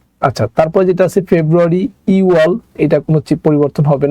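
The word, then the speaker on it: 유월: আছে কোনো বাচ্চিম নাই, এটাও যা আছে তাই উচ্চারণ হবে ইওয়াল।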